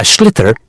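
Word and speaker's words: sliotar: this ball called a schlitter that's SL l i o t a r so it's not spelled the way it's pronounced you hit it into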